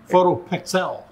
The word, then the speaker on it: PhotoPXL: it to both names photo p xl pronounce pixel but the pxl is the acronym for pixel i'm really proud and